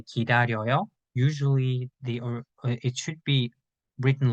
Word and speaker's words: 기다려요: There are some people that can write and say 기다리어요. That's also correct, but usually Koreans usually say 기다려요 like 여.